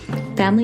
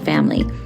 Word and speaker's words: Famlee: imbalances, male factor, and the always frustrating unexplained infertility, Family is helping women and couples find real answers,